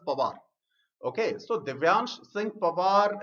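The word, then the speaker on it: Panwar: That is P-A-N-W-A-R, but is pronounced as Pawar.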